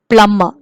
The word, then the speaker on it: plumber: children plumber we say plummer we say b is silent there so we say plumber